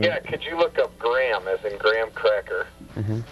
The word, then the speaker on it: Graham: And then the second one, which sounds kind of gross, but it's gray, Gray, ham, Ham, two words. Graham.